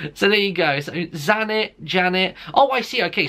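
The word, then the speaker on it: Zsanett: Hi, my name is, oh my god, it's spelled Z-S-A-N-E-T-T, and it says in English it's pronounced Janet. Like, I kid you not, it literally says it's pronounced Janet. So there you go, so Zanet, Janet.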